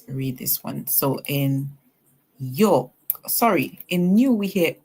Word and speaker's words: York: In New York, we see the OR making the sound or. So we hear y, or York. And then city, whenever S